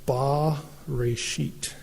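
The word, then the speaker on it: בְּרֵאשִׁית: And it would be pronounced ba-reshit.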